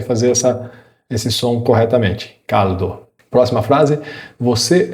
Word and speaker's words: caldo: O L italiano não tem o som de U. Eu não devo ler essa palavra como caldo. Caldo. Eu devo ler como caldo. Para você pronunciar corretamente, lembra? Tenta perceber um toque da língua no céu da boca.